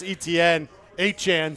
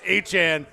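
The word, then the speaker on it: Etienne: The highest paid previously Josh Jacobs from Green Bay, Travis Etn, sorry, new new pronunciation. Travis Achan, uh, four years, $48 million for each of those two.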